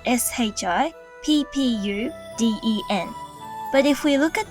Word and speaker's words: Shippuden: When this happens, rather than breaking the syllables to say shippu uden, we join the syllables together and pronounce it more like an elongated sound, shippuden.